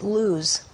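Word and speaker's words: لوز: Laws, they actually pronounce it luz. And it's also pronounced luz in Hebrew, and it means the nut tree, or specifically the almond. So this Jebel Laws, the almond tree, okay?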